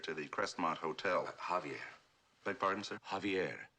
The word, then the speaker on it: Javier: managed to trace Pablo jaier to the Crestmont Hotel Javier beg pardon sir Javier not Javier The The J is silent you pronounce it like a ha uh Javier I can't